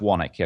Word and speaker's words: Swanwick: name of the company it's my last names waunakee okay it's spelled swanwick and in school my nickname in